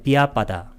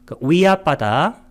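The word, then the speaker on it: vyāpāda: 비아빠다. 우리가 아비아빠다 할 때는 악의 없음, 비아빠다는 악의. 위아빠다, 이 위야라고 발음해도 좋고 이건 그 힌두어로는 위야라고 해요. 근데 산스크리트는 비야랍니다.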